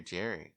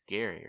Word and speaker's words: Gary: Is it Gary or Jerry? I think it's Gary, right? It's Gary, but it's spelled like Jerry. Right.